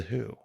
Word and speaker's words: Who: I'm here to meet the Hugh.